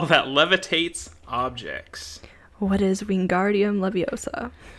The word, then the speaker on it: Wingardium Leviosa: and charms too for 100 all right a spell that levitates objects what is wingardium Leviosa it's lovely sure that's how it's pronounced we